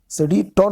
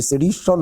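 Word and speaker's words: sedition: सेडिटन, सेडिटन नहीं होता है, ये सेडिशन होता है, वही मुझे लग रहा था।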